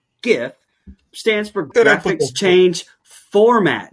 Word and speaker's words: GIF: explains to Cross that a GIF, pronounced GIF, stands for graphics change format, not graphics change format.